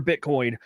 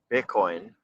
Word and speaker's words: Bitcoin: Michael, I love the way he says Bitcoin without pronouncing the T. Bitcoin or I can't I can't do it. Bitcoin. Bitcoin. It's like the the guttural stop on it instead of the letter.